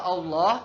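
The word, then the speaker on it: الله: huruf yang bertanda fathah sehingga hukum bacaannya adalah tafkim atau dibaca tebal. Misalnya alaihissallah, jadi dibacanya Allah ya, bukan alaihissallah.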